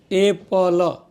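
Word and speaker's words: apple: एप्पल बोलते हैं और एक नियम बताया था कि अंग्रेजी में जब एक अक्षर सिमिलर अक्षर दो बार आता है तो उसका सिंगल उच्चारण होता है एपल हां एपल ना कि एप्पल हां ए आधा प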